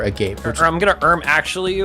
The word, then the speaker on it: agape: a gape is not a gape. It is agape. And the reason is is because the description says boundless without conditions which is the exact definition of agape.